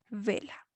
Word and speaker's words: vela: Vela. Termina vela, por ejemplo, en vocal y es una palabra grave o llana y el mayor golpe de voz está en la penúltima sílaba.